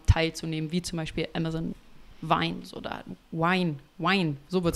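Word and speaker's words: Vine: Zum einen, also an einem Review-Programm teilzunehmen, wie zum Beispiel Amazon Wine oder Wine, Wine, so wird es ausgeschrieben, ne?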